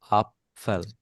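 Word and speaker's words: Apfel: আপফেল।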